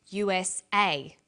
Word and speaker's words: USA: Notice that each letter in the abbreviation is pronounced separately, but the last letter is pronounced more strongly because it carries the primary stress. So we say USA, ASAP, ABC, and TV.